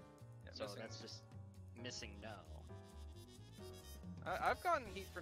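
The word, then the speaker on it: MissingNo.: though it's not the correct pronunciation that's just missing no I've gotten heat for not calling it for not pronouncing it missing number and I'm like that is like an entire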